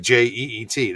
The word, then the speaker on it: jeet: New York, it's "jeet," and people understand it, but it's like Jeet. That's how you say it, jeet.